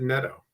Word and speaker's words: Netho: may say this incorrectly netho or Neto we are we pronounce it Neto even though it looks like netho um uh Neto Diaz